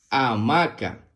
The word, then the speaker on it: hamaca: La palabra hamaca se escribe con H-A que suena A, M-A que suena ma y C-A que suena K. A-ma-ca, hamaca.